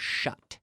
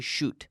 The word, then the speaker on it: shut: into this yesterday but the pronunciation of shut shut shut we don't say shoot but shut shut shut up -